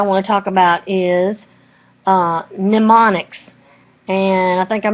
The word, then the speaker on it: mnemonics: to talk about is mnemonics and i think i'm mispronouncing on a previous video it is spelled with an M at the beginning but it's pronounced mnemonics it's a method or